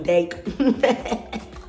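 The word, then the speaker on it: Deik: That's how I think the brand is said. Who knows, maybe it's D-ick, but I'm sure it's the other one, Dake.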